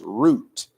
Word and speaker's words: Ruth: her name was not Ruth her name was root it's it should be transliterated in English is r u t or it could be transliterated r o o t maybe people would pronounce